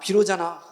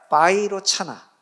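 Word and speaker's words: वैरोचन: 반야 비로자나 너무 나가셨는데 그 이제 비로잖아 얘기 아니라 바이로 차나 그건 그건 비로자 비로자나 한글 발음이고 그 이제 바이로나를 중국 사람들이 비로자나로 한문으로 한 거 우리가 발음하니까 비로자나 원래는 바이로차나라고 이거 맞는 것이죠 아 또 비로자나불까지 또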